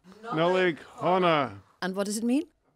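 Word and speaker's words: Nollaig Shona: Pronounce this Nollaig Hona. Nollaig Hona.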